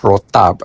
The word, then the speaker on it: rotab: And the dates that I prefer are called mazafati dates which are very similar to another date called rotab. Mazafati is spelled m a z a f a t i.